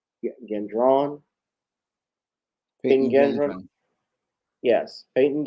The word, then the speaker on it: Gendron: How do we pronounce his last name? Gendron? Peyton Gendron? Yes, Peyton Gendron, who shot and killed several people at a Tops grocery store out in Buffalo.